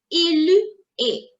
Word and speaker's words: il est: Il est, il est, il est, il est. Same pronunciation like the way we were doing with tu es.